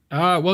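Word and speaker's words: oui: How do you say yes? We. Yeah, yeah, like we. We, like us. Like if you were to say we are going to the park, but just the we.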